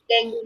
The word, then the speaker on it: dengue: The pronunciation इसका dengue होता है, dengue नहीं बोलते. So the pronunciation is dengue.